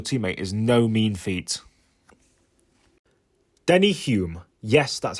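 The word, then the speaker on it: Denny Hulme: fanjo as your teammate is no mean feat Denny Hume yes that's how it's pronounced is the first and so far only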